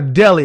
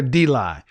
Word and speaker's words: deli: It's called a deli. It's not a D-lie.